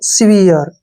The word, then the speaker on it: severe: SE का उच्चारण हम सी करेंगे, ठीक है ना, VE का उच्चारण वी करेंगे और RE का जो उच्चारण है यहाँ पर हर के रूप में होगा।